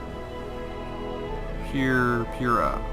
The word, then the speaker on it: Prryha: How do you pronounce her name? P-Y-R-R-A? Prryha.